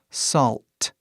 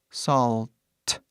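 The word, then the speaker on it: salt: pra avisar próximo aqui sal que no inglês pronúncia bem parecido na palavra aqui embaixo solte você faz o mesmo som sal só que coloca um t no final solte st bem claro solte ou eu tô falando devagar na volta da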